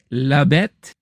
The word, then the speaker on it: La Bête: And then I went back to check out The Beast, or as it's pronounced in French, La Bête.